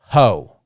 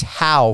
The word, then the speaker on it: Howe: And they say Howe. I don't know, but it's Howe for you. Yeah, it's Howe. I get all different kinds of things. Howie, Ho, Howe.